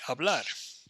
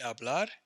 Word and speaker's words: hablar: AR verb is like hablar we have aa bleh a blast a hablo hablas habla Ron notice how I'm not pronouncing the H you don't pronounce HSN